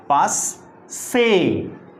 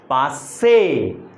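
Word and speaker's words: passé: यूज किया जाता है, एंड the pronunciation of this word is पास, पास से, पास से, पास से।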